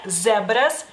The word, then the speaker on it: zebras: En México la Z la pronuncian como S, pero en lituano es Z. Z, zebras, zoologios, sodas.